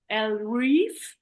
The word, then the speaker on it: Ellereve: written and how I'm pronouncing it because it's pronounced as L re oh okay um but it's definitely inspired by